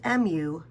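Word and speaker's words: μ: All right, now this is pronounced mu, kind of like a cat, but it's spelled mu if you were to actually spell it out to identify the Greek letter.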